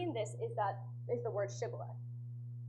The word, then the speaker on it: shibboleth: Basically, the Gileadites had the sound sh in their language, so the sh they could pronounce. However, the Ephraimites could not pronounce it. They would pronounce sh with an s sound, like sa.